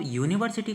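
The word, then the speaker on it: university: पास में वोवेल है लेकिन अगर आप यूनिवर्सिटी को अच्छे से पढ़ो तो यहां पे य आ रहा है और अगर हम हिंदी में य की बात करें तो कैसा आता है व्यंजन आता है इसी वजह से यहां पे एन यूनिवर्सिटी ना करके हम क्या करते हैं ए यूनिवर्सिटी करते हैं ठीक है अब ऐसे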